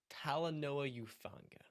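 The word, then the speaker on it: Talanoa Hufanga: par okay so a couple of things friend pronounce it with me tala Paula Noah Noah who who fun fun yeah tala Noah youfanga tala Noah youfanga over reaction reaction yep what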